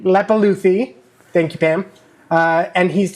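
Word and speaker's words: Leppalúði: I forgot how to pronounce his name. Lepuluthi. Lepaluthi.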